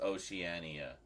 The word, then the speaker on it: Oceania: a knife for something somewhere oania maybe it's Oceania maybe it's Oceania o out so it is Oceania okay o Oceania so kattin was close just